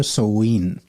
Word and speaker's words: Samhain: जो केल्ट्स लोग होते थे वो एक फेस्टिवल मनाते थे, उसको प्रोनाउंस करते थे सोवीन।